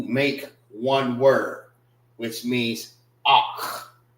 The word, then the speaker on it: Ahch: Ak, which is spelled AHCH. All right. They will actually be together. Ak. Together. All right. Because it loses its two A's. All right. So when you say it, kha is CHAA.